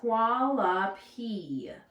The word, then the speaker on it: Hualapai: The next word is also a challenging word, is hualapi. Hualapi. Okay, and you can clap it out. Hualapi, 3 syllables.